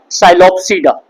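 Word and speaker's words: Psilopsida: अगर हम इसका फर्स्ट क्लास देखेंगे जैसे ये है इसको हम बोलते हैं साइलोप्स। इसका पी साइलेंट है। पी एस आई एल ओ पी एस आई डी इसको क्या बोला जाता है? साइलोप्सडा।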